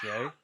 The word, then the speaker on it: Shai: it's pronounced Shay.